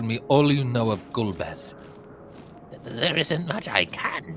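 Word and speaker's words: Golbez: With luck, we may learn something of Gulbez. When we were children, my brother and I used to pronounce it Golbies. Not the bees.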